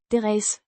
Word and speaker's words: deres: Pronounced. Deres.